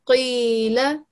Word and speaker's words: قيل: But since it has a kasra underneath, we need to make sure that it's still a thick letter. So we pronounce it from the bottom of our throat.